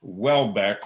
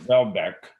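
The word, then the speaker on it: Houellebecq: a flemish origin so it is pronounced welbeck or welbeck but in french it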